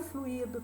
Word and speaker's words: fluído: O fluido é o particípio do verbo fluir. Então, fluido vem do verbo fluir. Tinha fluído, tem fluído, tendo fluído, terá fluído. Então, é interessante.